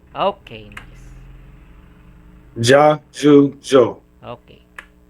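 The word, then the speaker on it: じゃ: And you put ya, small ya, it will be pronounced as ja.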